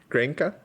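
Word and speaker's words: Grenke: How do you say granki? Granka. But even in I played grankkey open this year. Even in granki, everyone was saying grankkey. You know, even the Germans, they're all saying granki.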